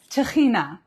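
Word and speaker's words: טחינה: Okay, Techina. So you guys, I'm sure that many of you are familiar with this amazing product. I think in Hebrew we pronounce it Techina, but in English it's called tahini.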